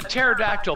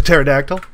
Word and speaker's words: pterodactyl: The pterodactyl? Yeah, why couldn't I hear him peeing on my head? Maybe it was a stealth pterodactyl. No, it's the fucking P is silent.